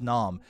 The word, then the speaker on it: Snom: snow a snow because it's not spelled like that it's spelled just snom uh this guy looks